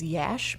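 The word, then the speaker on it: Iași: university at koozai University and city itself is yesh but it's spelled ia si so ia s is pronounced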